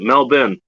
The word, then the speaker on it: Melbourne: up here and gertrop actually knows how to pronounce it mel ben or mel he pronounced melbourne it smelled ben